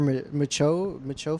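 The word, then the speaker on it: Micheaux: Yeah, for Micho Film Festival, is that how you pronounce it?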